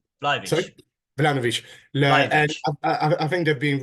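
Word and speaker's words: Vlahović: I think you pronounce it Vladinovic. Sorry? Vlahovic.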